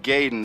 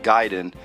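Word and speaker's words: Gaiden: to say it I I call it gayen but I think it's actually pronounced ninja giden but it says hyperactive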